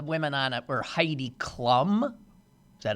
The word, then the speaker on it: Klum: Well, the last time I watched, the women on it were Heidi Klum. Is that how it's pronounced?